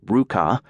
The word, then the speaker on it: RVCA: Looking for a fresh start on his own terms and timing, Hayes co-founded RVCA, pronounced Ruka, lifestyle apparel in 2001.